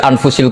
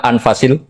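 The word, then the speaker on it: أنفس: saja di sini ditulis anfusil kutub su saya baca anfasil kutub karena maknanya kitab ter baik Kalau kitab terbaik bacanya bukan anfus tapi apa anfas ya nanti kamu debat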